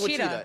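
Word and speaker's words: Ouachita: Okay, word on the street is it's Wichita. It's not said the way it's spelled. It's one of those where it's like. I know what Wichita looks like it's spelled like.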